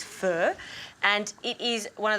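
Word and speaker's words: pho: similar to a fur it's actually spelled faux p h o but the correct way to say it I've been told is fur and it is one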